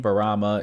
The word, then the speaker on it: Buruma: Her name, Buruma, is a Japanese pronunciation of Bloomer.